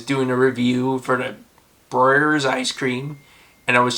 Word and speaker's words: Breyers: I was like, oh, it looks like it'd be a silent E, and it would be Broyers, but no, it's Breyers.